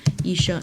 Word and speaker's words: 医生: This one you have to pronounce with the tone, which is the first tone. 医生, not much to say about this word.